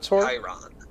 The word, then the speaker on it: Chiron: How do you pronounce his name? The sword? Chiron.